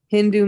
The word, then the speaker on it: Hindu: Hindu means there is one river, Sindhu. The Mohammedans, they pronounce Sa as Ha. So those who were on the other side of the Hindu River, they were called Hindus.